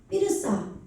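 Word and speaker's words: בִּרְשַׁע: 그런 거기에 왕이 누구냐면 삐르사. 예, 한글 성경 보세요. 예? 고모라 왕 비르사죠? 예. 그런데 강점이 찍혀있기 때문에 원래 삐르사예요.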